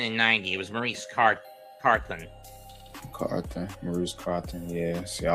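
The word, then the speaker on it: Carthon: Maurice Carthan in 86. Or Carton, or however you pronounce it. And he was also there again in 90. It was Maurice Carthen.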